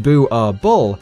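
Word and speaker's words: Boerboel: Boerbul, pronounced Boo-ar-bull, is a Dutch Afrikaans word for farmer's dog.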